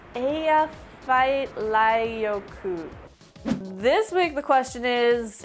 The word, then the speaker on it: Eyjafjallajökull: Last week I asked you how to pronounce the name of some volcano. Thanks, Kai Orange Juice. It's Eyjafjallajökull.